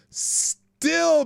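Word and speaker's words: Stihl: Just saying as does chainsaw being invented give a whole new meaning to the phrase still birth. Oh my spelled like this s t i h l birth.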